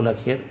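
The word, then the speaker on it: ل: ल अंग्रेजी में जैसे एल की आवाज़ होती है, ल।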